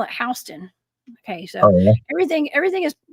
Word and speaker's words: Houston: Like, we have a Houston County here in Georgia, we call it Houston. Okay, so everything everything is mispronounced, y'all.